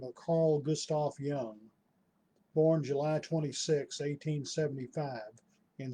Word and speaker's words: Jung: very interesting man and by the way young is spelled j-u-n-g he was often his